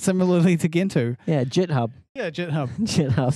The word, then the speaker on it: Gentoo: The correct pronunciation is Gentoo.